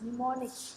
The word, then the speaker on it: mnemonics: M is silent. Mnemonics. Mnemonics code.